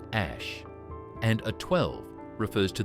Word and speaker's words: Æ: A is a character pronounced ash and a 12 refers to their favorite aircraft, the Archangel 12, which Musk once called the coolest plane ever.